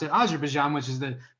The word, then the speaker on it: Azerbaijan: you pronounce that country wrong it's as she pronounced it Azerbaijan which is the correct pronunciation and the teacher